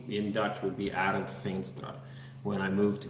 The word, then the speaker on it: Arend: In Dutch, it's Arend, and a lot of Russian people that address me also say it similarly as Arend. So my name in Dutch would be Arend Veenstra.